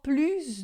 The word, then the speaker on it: plus: Encore plus de fruit. Plus de fruit. Esse plus aqui a gente vai dizer esse S. Geralmente quando é plus de a gente vai dizer o S em francês.